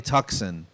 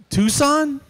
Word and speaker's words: Tucson: gonna love it it's a hyundai tuxen you mean tucson she goes tucson is that how you say it i'm like yeah she